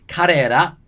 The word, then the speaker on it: 彼ら: It's karera, and the ra is sort of like a bit between la and ra.